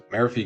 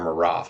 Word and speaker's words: Maraf: So Marafi gets a pass. Or Maraf. I can refer to him now. He told me his name is Maraf, which is a super cool name. I've been mispronouncing it, which I do feel bad about.